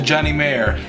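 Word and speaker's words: Johnny Marr: for that dude and I do know that that's the right pronunciation for now is that the Johnny mayor and that's j o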